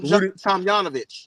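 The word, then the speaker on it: Tomjanovich: yeah Rudy Tom J let's say for sure because I always mix it up Tom Tom yanovich Tom yanov that's how you pronounce it Tom yanovich again has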